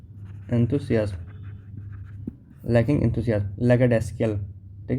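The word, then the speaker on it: lackadaisical: लैकडेस्कल, ठीक है, not showing enough enthusiasm और केयर, मतलब उसमें लैक है क्या का? एंथुसियाज्म का, एंथुसियाज्म, लैकिंग एंथुसियाज्म। लैकडेस्कल, ठीक है, इसका प्रोनाउंसिएशन होगा लैकडेस्कल, लैकडेसिकल, लैकडेसिकल।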